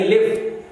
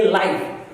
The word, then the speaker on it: live: आपने देखा LIV अगर वो वर्ब है तो उसको हम प्रोनाउंस करेंगे लिव, और अगर वो एडजेक्टिव एडवर्ब हो गया तो हम इसको प्रोनाउंस करेंगे लाइव।